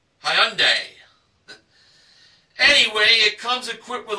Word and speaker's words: Hyundai: I've been pronouncing the name as Hyundai, but I have a friend who used to own a Tiburon, and he told me how the name is pronounced. It's Hyundai.